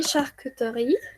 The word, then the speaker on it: charcuterie: Y aquí charcuterie, a mí me es difícil no pronunciarla, pero la dice muy rápido.